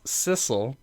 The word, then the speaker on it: Sissel: game you play as Sissel which is how I've been pronouncing it and I assume is correct because it rhymes with missile who is killed at